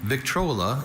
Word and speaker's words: Victrola: Victrola is the only pronunciation for this trademark.